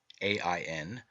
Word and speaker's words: Ain: dwell in this myth john spelled a e n e i o n and a i n three forms of the word and all pronounced ain represents the redeemed and